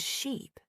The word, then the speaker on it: sheep: For example, the word ship and sheep. They look similar but sound different. Ship has a short I sound and sheep has a long e sound.